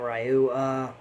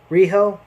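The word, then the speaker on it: Riho: Raichu a real rock Rio not Rio Rijo I'm sorry I've mispronounced the name Rijo who's a very small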